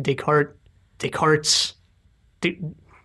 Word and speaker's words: Descartes: going on in this episode is from like Descartes take hearts deep Descartes yeah Descartes apostrophe s to gauge its pronounced they call it yeah Descartes and then